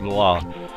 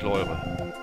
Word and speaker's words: Loire: Arsch getreten und gesagt, das heißt Loire. Also sage ich Loire jetzt dazu, nicht Leure.